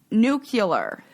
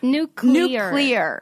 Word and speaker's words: nuclear: do that to me i still don't nuclear that is no that is that's not it right it's new clear yeah that seems like